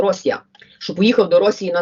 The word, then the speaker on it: Росія: свою слабкість суних тобто Звідки взялася назва Рося з наголосом на першому складі Я думаю що ви напевно пам'ятаєте старше покоління особливо на заході України яке Ніко ли не наголошували назву цієї держави Росія а завжди наголошувало Росія що поїхав до Росії